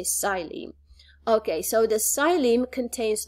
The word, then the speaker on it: xylem: That is called the xylem. You can see that in your book as well. Xylem, you spell it with an X, but you don't pronounce the X. You just say xylem.